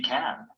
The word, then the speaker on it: can: such as yes she can but when it comes before another word in the same Clause can is usually unstressed and the vowel is reduced the pronunciation is short